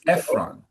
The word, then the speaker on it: Ephron: Ephron and just for you to know in English the emphasis is all is often sooner in the word. So in Portuguese it might be Ephron but in in English in English it's Ephron. So the emphasis is almost always earlier in English.